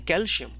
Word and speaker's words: calcium: There is no SH. It's C, calci, not calci, right?